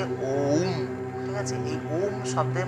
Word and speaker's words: ওম্: ওম শব্দের অর্থটা কি ওম শব্দের শুদ্ধ উচ্চারণ হচ্ছে ওম ঠিক আছে এই ওম